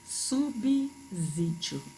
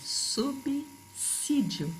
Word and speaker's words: subsídio: tá bom então vejo é muita gente falando subir vídeo e não é é subsídio falei subsídios sub seguido de s tem pronúncia de dois estão falando subsídios subsidiária